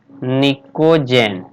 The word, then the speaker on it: pnicogen: कहा जाता है या इसका नाम है निक उज्जैन निको जैन नाइस यूपी साइलेंट इसका नाम है उसका